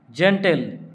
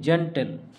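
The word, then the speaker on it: gentle: তো জি এর পরে যদি ই আই ওয়াই থাকে তাহলে জি এর উচ্চারণ হয় জ। জেন্টেল, জি ই এন টি এল ই, জেন্টেল।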